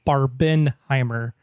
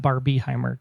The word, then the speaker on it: Barbenheimer: It's Barbenheimer, not Barbieheimer. Get the hashtag right.